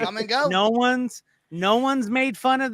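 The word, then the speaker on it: Kum & Go: Come and go. Come and go. And it's spelled C-U-M. Come and go.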